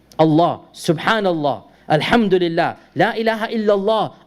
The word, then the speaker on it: Allah: Typically, if the lam has a shadda, we just say Allah, Allah. But the name of Allah, to show it respect, we do something called tafkhim. We do something called heaviness. And all of us, we pronounce the name not as Allah, but as Allah. That heaviness is only for this name.